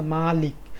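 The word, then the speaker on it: مالك: হচ্ছে মালিক আবার বলতেছি উচ্চারণের মধ্যে একটু ডিফারেন্স আছে একটা হচ্ছে মালিক আরেকটা হচ্ছে মালিক অর্থাৎ একটার মধ্যে ম এর পরে টান নাই মালিক আরেকটা হচ্ছে ম এর পরে একটু টান আছে মালিক এখন মালিক আর মালিকের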